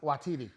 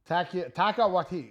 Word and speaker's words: Taika Waititi: Watiti. Okay. Taika Waititi. Wait. Okay. All right. Yeah, the name I just mispronounced.